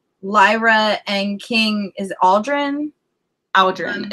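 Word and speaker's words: Aodren: Aldrin. It's kind of like, it rhymes with cow. It's like the AO sound makes the owl sound.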